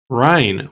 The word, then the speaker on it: Krine: And let's get into Krine, which I said Krine earlier. I forgot that the K is silent until I just read my notes.